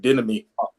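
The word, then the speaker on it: δίδωμι: Didomi.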